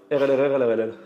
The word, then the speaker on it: Rlrrlrll: Comment elle se prononce? Alors, c'est très simple. RLRLRLL.